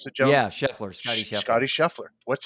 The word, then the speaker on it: Scheffler: Is that how you pronounce the gentleman? Yeah. Scheffler, Scotty Scheffler.